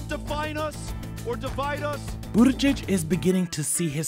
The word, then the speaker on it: Buttigieg: What is the correct pronunciation of your name? Pete (laughs). (laughs) Pete, just Pete. Yeah, no, it's Pete Buttigieg.